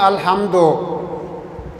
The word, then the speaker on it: الحمد: غور کیجئے گا کہ 99% لوگ الحمد پڑھتے ہیں۔ اصل لفظ کیا پڑھنا ہے کہ الحمد، یعنی یو کے لہجے میں۔ اور اگلی غلطی کیا ہوتی ہے؟